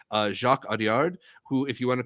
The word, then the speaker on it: Jacques Audiard: I mean, it's the latest film from, I want to say it's pronounced Jacques Audiard, who, if you want